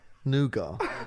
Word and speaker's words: nougat: Nougat. No. How do you say it? Nugget.